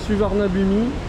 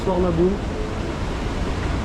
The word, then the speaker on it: Suvarnabhumi: Donc je vous ai dit oui, on a Swarnabou pour euh on a tous appelé ça une fois dans sa vie suivarnabumi et en fait les Thaïlandais ils prononcent ça Swarnabou.